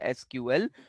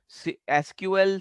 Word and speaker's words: SQL: So that is why we need a language called SQL. SQL, SQL, it is one and the same thing. It is pronounced as both.